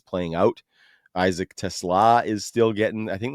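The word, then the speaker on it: TeSlaa: Isaac Tesla is still getting, I think that's how you say it. Tesla. That's how the guy said it on the broadcast this week when Yeah.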